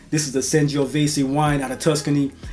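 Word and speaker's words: Sangiovese: of my favorite wines this is a sanisi or san vesi depends on how you pronounce it I've heard it both ways this is the sanio vasy wine out of Tuscany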